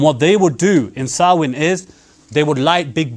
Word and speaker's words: Samhain: called this and now many people pronounce this samhain but it's actually called sarwin now the day of